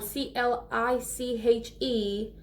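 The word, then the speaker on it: cliché: makes you use cliche remember that it has an accent on the e okay so that's why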